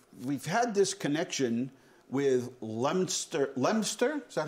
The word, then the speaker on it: Leominster: um we we've we've had this connection with Leominster Leominster is that how they say it they say it lemster like in Pennsylvania they say Lancaster yeah Lancaster